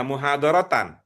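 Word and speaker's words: مُحَاضَرَةً: Yang itu itu bacanya muhadaratan.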